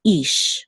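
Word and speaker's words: איש: So this is ish, okay? The chirik says e. So this is ish, and there's only one syllable.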